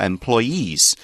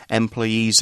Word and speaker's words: employee: say employee employee so the accent's almost on that last it is on the last syllable employee employer employee I